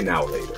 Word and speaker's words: Now and Later: Don't even say now or later. You just say now or later. That's how we pronounce it.